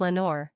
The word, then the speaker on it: Lenore: our Raven replies Nevermore well it rhymes with Lenore so good choice in